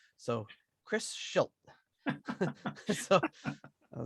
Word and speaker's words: Schilt: He was like, basically, it's he said it's pronounced like shit with an L. So Chris Schilt.